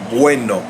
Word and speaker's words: bueno: Let's look at that first syllable. Bueno, bue. I have one syllable there, actually, although I have two vowels in that syllable. And why is that? That's because a diphthong is considered one syllable.